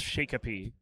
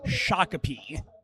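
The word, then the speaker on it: Shakopee: Uh, I I would have to guess Shikapi. So close. That one is pronounced shakapi.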